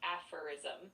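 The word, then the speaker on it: aphorism: It's kind of like a little nugget of wisdom and you say it like apherism with the first part sounding like a and the emphasis on that first syllable.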